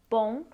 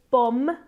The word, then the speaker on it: bom: mention the pronunciation of bom we are not going to say bom with an M like any Italian word